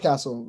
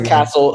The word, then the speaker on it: Cattell: So Pronounce Castle. Okay. He owes me a free. I was going to say pronounce Castle according to his bio.